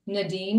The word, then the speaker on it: Nadine: So my name's a little tricky because it's Nadine, short, long, eighth quarter, or just think grenadine. So it's different than how they say it in the South.